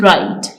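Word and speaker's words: write: होते हैं for example W इन राइट जैसे कि राइट में डब्लू साइलेंट है के इन नील जैसे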